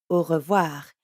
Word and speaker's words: au revoir: Try to hear the difference between an English O, versus the French ou. Au. The ou in au revoir is spelt AU, and here it means until. So if revoir means see again and au means until, then au revoir.